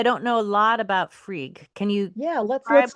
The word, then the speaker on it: Frigg: Is it Frig or Frigg? you can just call it Frig. Frig's fine.